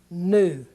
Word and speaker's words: nu: called new and it's going to be like the n and the word net net in Alpha Beta Gamma Delta Epsilon Zeta ETA Theta Iota Capital om to move new and the next word